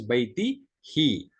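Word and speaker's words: بَيْتِهِ: It actually is baitihu only, but for pronunciation and ease, it becomes baitihi.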